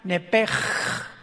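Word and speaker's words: נֶפֶשׁ: Los que quieran apuntarlo, la palabra alma en el hebreo es nepesh, con SH al final, como suena nepesh. Pero la SH en hebreo se pronuncia como J, entonces se pronuncia nepej, como el francés, ¿verdad? Que es gutural, nepej.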